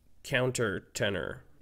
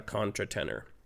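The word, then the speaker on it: countertenor: you're saying it wrong he's a counter-tener not a contra tenor if you Google it counter Tenors used to be called Contra Tenors so all I'm doing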